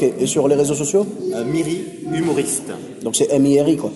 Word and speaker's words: Miri: Eh bien, écoute, merci beaucoup Miri pour ces informations, ces anecdotes.